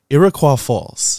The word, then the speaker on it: Iroquois Falls: very excited to be able to pronounce this pronounce this word right Iroquois Falls correct well done you're born and I was